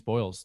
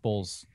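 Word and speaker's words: Boles: Denise Boyles lost. Bowles. Yep. Lost by. I said it wrong until she corrected me, which is a little bit more awkward.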